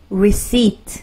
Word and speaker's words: receipt: 자, receipt. 피 발음 안 난다. 기억하십시오. 아시겠죠? 요거 자주 실수하는 건데요. receipt, receipt. 이렇게 발음하시면 좋습니다. 여기 강세를 주시고 receipt 하면요.